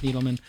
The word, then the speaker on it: Needleman: Jim Lanzone and Needleman. Pronounced that right, Needleman, right? Yeah, that's right. I just say Needleman, but it's Needleman. There's a D in there.